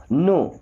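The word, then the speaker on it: know: नो। दोस्तों इस नो word में के और डब्लू दोनों साइलेंट होते हैं।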